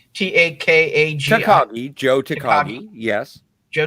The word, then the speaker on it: Takagi: How do you pronounce that name? I didn't know. I don't know. Takagi. Takagi.